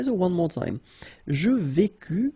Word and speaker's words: vécus: Je vécus, final S not pronounced.